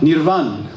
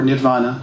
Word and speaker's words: nirvana: in this implication uh nirvan or nirvana depending on how you like to pronounce that last vowel you know we see